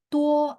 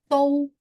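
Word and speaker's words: 都: Tuh artinya juga semua Laoshi. Oh, itu tou bukan tuh.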